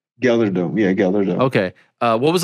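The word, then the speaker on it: GelreDome: Gelderdome. Gelderdome. Yeah. It's in the Netherlands. Yeah. It's the G. It's like really, really, really, really hard. Okay. Gelderdome. But maybe Gelderdome. You say Gelderdome.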